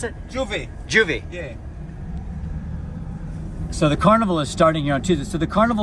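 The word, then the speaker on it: J'ouvert: You call it Juve, or how did you pronounce it? Juve.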